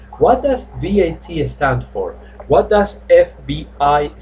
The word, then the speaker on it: VAT: by letter i repeat most of the acronyms are pronounced letter by letter so you don't say that so you say v a t on the previous one